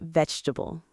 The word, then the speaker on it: vegetable: Listen to the word vegetable. Many beginners read every letter. But people often say it like vegetable. The middle sounds become shorter.